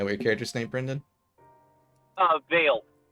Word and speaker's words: Vale: Vale. How you spell it?